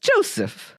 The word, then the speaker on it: Joseff: last name oh well first of all it's pronounced Joseph Joseph no Joseph Joseph Joseph with two FS